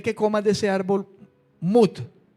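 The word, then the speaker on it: מות: morirás en el hebreo se encuentra así mud m ut y tiene un acento en la u mut m ut Esa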